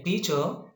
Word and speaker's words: teacher: two syllables of a teacher, T is accentuated or T is pronounced longer, higher and louder. So coming to longer. See, coming to teacher, T is said longer.